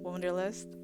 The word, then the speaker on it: woendrlst: that's how you print that's how you technically pronounce it wonderlist my name my real name is um